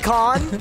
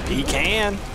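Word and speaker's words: pecan: States like that's the minority you most people peon or pean if I talk about the the the cookie of a pean Sandy I pronounce it pean PE can because peon Sandy sounds stupid oh look at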